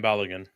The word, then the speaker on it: Balogun: Is it Balogun? I always pronounce his name wrong. Balogun? Florian Balogun.